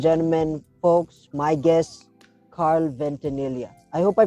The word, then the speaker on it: Ventanilla: so ladies and gentlemen folks my guest carl ventanilla i hope i pronounced it right yeah actually you did thanks